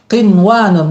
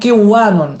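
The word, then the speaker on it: قِنْوَانٌ: Qinwanun, bukan bacanya kiwanun, tapi qinwanun, jelas dibacanya. Jadi bunduqin.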